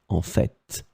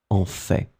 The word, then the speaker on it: en fait: So in this situation, for this second one, some persons, and I am among them, pronounce the final T, en fait, en fait. But then you can also hear some persons who don't pronounce it en fait.